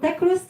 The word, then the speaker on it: Takrust: So Takrust in Amazigh means the knot. You know? Like the knot, yeah. The K is silent.